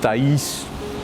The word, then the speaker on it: Thays: La obra de Charles Taís, como dicen los entendidos, y él se preocupó